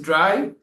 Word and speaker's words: drei: And 3 is dry, like you are drying something.